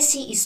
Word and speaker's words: ci: So when the C is followed by E or I, it's pronounced as in church.